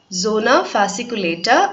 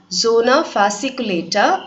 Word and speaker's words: zona fasciculata: They are zona glomerulosa, zona fasciculata and zona reticularis. திருப்பி படிக்கிறேன், just note down the pronunciation. 3 types of cells வந்து adrenal cortexல இருக்கு. They are zona glomerulosa, zona fasciculata and zona reticularis.